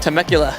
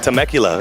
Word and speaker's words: Temecula: Temecula. Temecula.